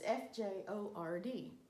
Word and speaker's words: fjord: the fourth type is an odd word its FJ Ord but it's pronounced fjord this is a fjord in Alaska